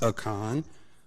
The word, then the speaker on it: Aiken: My name is pronounced Akon.